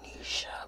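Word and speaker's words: Knisha: nisha my name is nisha but it's spelled with a gay and the k is silent like night like a like a night not like night time like a medieval time night or like the word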